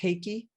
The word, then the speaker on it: Reiki: been an amazing experience in Portuguese it's pronounced heiki like with an H more of it yeah